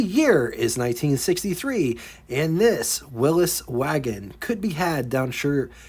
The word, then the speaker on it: Willys: Willis, yes, that's how the brand is supposed to be pronounced.